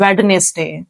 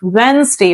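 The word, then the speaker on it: Wednesday: इट वेनसडे बट so many people pronounce it एज वेडनेसडे that is रंग डी is silent we will not pronounce D so actual word is वेनसडे what is इट वेनसडे वेनसडे okay the next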